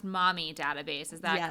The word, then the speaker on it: MOMI: to read a little bit about this it's pronounced mommy database is that correct so it's the McGee